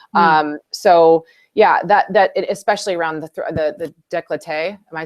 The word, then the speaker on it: décolleté: So yeah, especially around the décolleté.